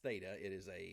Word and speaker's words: theta: It's pronounced theta. That's a Greek symbol.